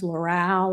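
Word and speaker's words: Loral: a thing called SSL which is Space Systems Laural or Laurel I don't know how to pronounce that l o r a l Laural okay anyway um and that program what I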